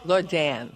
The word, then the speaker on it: Lordan: Yeah, Lordan. We pronounce it so you can spell it right.